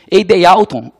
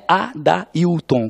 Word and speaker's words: Adailton: consegue ler meu nome ideal tom não é o meu nome meu nome é a da eo tom com esta pronúncia com essa sonoridade e não é cinza é sesa esse é o meu nome esse é o som do meu nome e os on ne